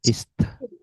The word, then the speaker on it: ist: ya kalau masih berakhiran s salah kalau masih matinya di s ya is bukan is tapi is is ada hembusannya Ya, ist is ist is yang D juga sama.